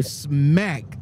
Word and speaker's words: Smacc: them well man so this company right here smack what are we talking about s SCA or